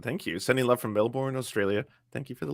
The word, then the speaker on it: Melbourne: Sending love from Melbourne, Australia.